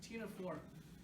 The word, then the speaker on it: Ctenophora: Don't pronounce the C again, right? Ctenophora.